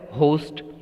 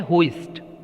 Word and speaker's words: hoist: जो हमारा तिरंगा झंडा है, नेशनल फ्लैग है, राष्ट्रीय ध्वज जो है, उसको होइस्ट, ये जो HOISTS लिखा है, इसको जनरली प्रोनाउंस किया जाता है होस्ट, बट इसका प्रोनाउंसिएशन क्या है? होइस्ट.